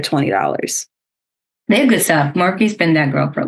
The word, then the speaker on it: Morphe: It's by Morph. I think that's how you say it. Morph. There might be an E on the end. Morphe, yeah.